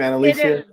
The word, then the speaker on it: Annalisa: know that i like analisia is that the right pronunciation of your name anna-lysa okay good because no one gets it right the first time so well hey i